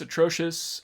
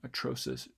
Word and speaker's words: atrocious: all uh and this atrocious um it might be an aspirated or it's aspirated tea for you uh like that or it might even in fact be just uh atrocious atrocious i don't i don't